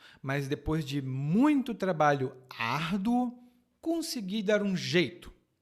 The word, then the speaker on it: árduo: A minha pronúncia é trabalho árduo. Árduo. Muito fraco. Árduo. Não é árduo.